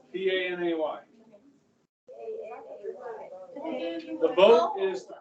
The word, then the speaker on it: Panay: How do you spell that? It was Panay. P-A-N-A-Y.